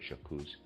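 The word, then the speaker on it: J'accuse: He says Jacuzz and I'm going to spell that J apostrophe A C U S E. Excuse me. I would pronounce that Jacuzz.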